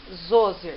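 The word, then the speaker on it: Djoser: Se escreve de Joger, mas se lê Zoser, que vai ser o primeiro faraó a construir pirâmide.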